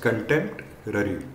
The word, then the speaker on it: contemporary: up while pronouncing it you should pronounce it as contempt rary okay so it is